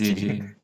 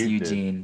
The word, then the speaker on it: Eugene: You say Eugene? It is Eugene. Is it pronounced Eugene? Yeah, It's Dr. Eugene Piju. Oh my god, that's hilarious. It's pronounced Eugene. Yeah. That's Pronounced Eugene.